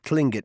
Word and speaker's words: Tlingit: said he was a tlingit indian pronouncing clingit proudly with a clicking of his tongue as if saying clink it he was built like